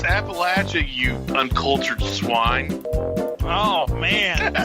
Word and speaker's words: Appalachia: Is that how you pronounce it in Appalachia? It's Appalachia, you uncultured swine.